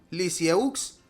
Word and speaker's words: Lisieux: a un pueblo llamado Lisieux. Se pronuncia Lisie, por eso la llamarán más tarde Teresita del Six.